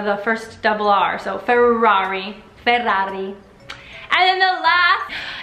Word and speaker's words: Ferrari: food build off two words first one is Ferrari know that luxury exotic car that is imported